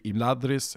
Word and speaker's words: Imladris: And if you ask the tool, where does the stress go in Imladris or Nargothrond, it tells you it's supposed to be Imladris and Nargothrond, because that's what Appendix E says.